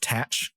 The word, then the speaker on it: Thatch: should be noted that that first H is actually silent and it would be pronounced tach which is how you